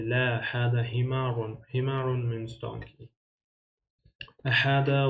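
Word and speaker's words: هذا: For example, number one point is hada is pronounced as hada with ha with alif, hada, but it's written as haza, right? But we pronounce it hada without the first alif.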